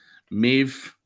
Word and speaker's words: Maeve: Maeve rhymes with Dave.